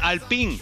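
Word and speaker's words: Alpine: fernando alonso pilotando un al ping que hoy han dicho que se pronuncia así el al ping era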